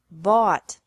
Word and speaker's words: bought: Buy bought bought. Catch. Caught. Caught. Fight. Fought. Fought. Seek. Sought. Sought. Teach. Taught. Taught. Think. Thought. Thought. Remember that the G is silent in these verbs.